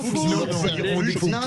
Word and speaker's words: Fuchs: Bruno Fuchs, on va prononcer à l'alsacienne pour faire plaisir. Non, on va prononcer normalement. Fuchs, c'est pas la peine de prononcer.